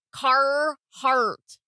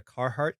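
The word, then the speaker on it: Carhartt: carart carart yes it's it feels weird to like overly emphasize there's two RS in that word and you pronounce you want me to roll my RS now no I just want you to pronounce either of the two car heart feel better it was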